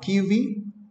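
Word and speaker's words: Kivy: So if you go here now, okay, let's search for, it's called Kiwi, right?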